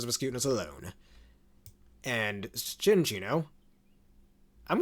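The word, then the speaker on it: Cinccino: It's pronounced Chinchino for some reason, not Cincino.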